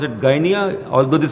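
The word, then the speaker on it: Gdynia: signed between polish shipping company in gyia they pronounce it gyia although the spelling is GD y n IIA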